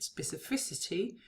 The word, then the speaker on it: specificity: derivational morim and get specificity and in specificity that final C lettery becomes pronounced as an as an S right inflectional morphemes are